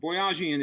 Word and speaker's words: Boyajian: Boyajian is the easy pronunciation.